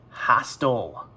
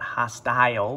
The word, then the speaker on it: hostile: Hostile. You might think that you'd pronounce that hostile because you got the I and then the E, I consonant E, but it's pronounced hostile.